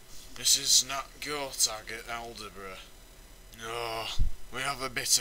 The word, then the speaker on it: Aldeburgh: And by the way, it's pronounced Aldeburgh.